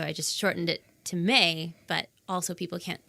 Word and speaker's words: Mai: Cuz in some Asian countries, I think the AI is pronounced I. Yeah. A lot of people say my. They do. Yeah. But it is May.